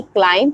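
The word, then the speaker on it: climb: example with Hindi meaning जैसे कि क्लाइम चढ़ाई करना जिसमें बी साइलेंट है साइकोलॉजी मनोवैज्ञानिक जिसमें पी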